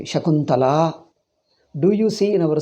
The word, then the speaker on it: Shakuntala: What is this Shaki? Shakila Shaku. Like Shaku and Shaki, something like that. So, you are supposed to pronounce the name completely. Shakuntala.